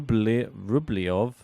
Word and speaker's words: Rublev: Italian second serves in rublev good backand into Sinner's backand forehand waywood got all the angles wrong there we got vanata saying by the way it's pronounced rub Ru rublyov I'm not sure I can